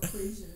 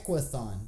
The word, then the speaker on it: Equithon: It's not equation. Equation. Oh yeah, equation. It's Equithon. Equithon, yeah.